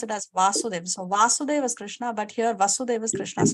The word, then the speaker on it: Vasudeva: a line on top of a then we pronounce it as vasudev so vasudeva Krishna but here vasudeva krishna's father is speaking